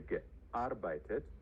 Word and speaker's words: gearbeitet: Ich habe gearbeitet. So there's an accent on the A.